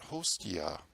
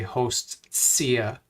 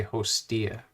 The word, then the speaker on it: hostia: tosi uzque pentatsionem grazia but not hostia see that tots so it's like a ts grazia but you don't say host sia you just say hostia because it's preceded by an s the t